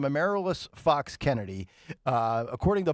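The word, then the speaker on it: Amaryllis: uh a is it a merilus I believe is how you pronounce her name a merilus fox Kennedy uh according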